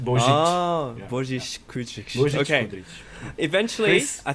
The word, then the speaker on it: Božić-Kudrić: You're close, but it's hard to pronounce Croatian, I assure you. It's Božić. Shostakovich? Yes. Yeah, so it's similar, Božić. but you need to add the zh in the Božić. middle.